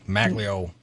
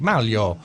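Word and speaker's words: Maglio: I've been saying that we've been saying his name you and I like like white people like Magglio dr. Magglio yes and I made him in the in the green room and I said how do you say your name and he's like mal yo I said we've been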